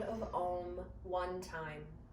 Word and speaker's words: Om: chant the sound of om one time om is sometimes spelled o m but more traditionally it is spelled a u m so there are three distinct sounds when we chant the